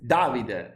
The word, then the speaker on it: Davide: Most of the times the stress is in the first part of the words. You understand? Like Veneto is Veneto, like Davide is Davide, you should.